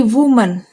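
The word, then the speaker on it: women: इसके प्रोनाउंसिएशन पे भी ध्यान देने वाली बात है कि वुमन सिंगुलर हो तो इसका प्रोनाउंसिएशन वुमन, और प्लूरल होने पर इसका प्रोनाउंसिएशन क्या हो जाएगा? वीमेन। अब अपने कुछ न्यू शब्द लेते हैं।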